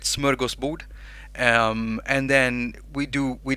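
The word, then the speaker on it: smörgåsbord: frogs we put up a smorgasbord which is you pronounce it smurga's boot and then we do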